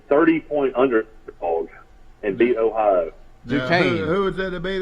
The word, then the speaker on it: Duquesne: D-U-Q-U-E-S-N-E. Duquesne. Its name. It's Duquesne. I didn't even know how to pronounce it.